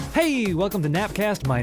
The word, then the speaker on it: GNAPcast: so we are the nap cast spelled with a G which is you know the G is silent but also so are